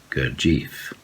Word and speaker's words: Gurdjieff: in the gordia kojif sorry my pronunciation is very finnish i can say cortif but most people who follow the court of teaching and have something to do with him they pronounce gurjeev there is an element